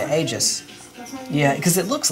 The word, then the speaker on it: Aegis: whatever to help so for the longest time on the channel I pronounced aegis of the gods as I think Aegis or something I don't know how it girls it is very just age though that's how I said hey jizz yeah because it looks